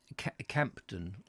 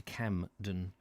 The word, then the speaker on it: Campden: Campden, as opposed to Camden.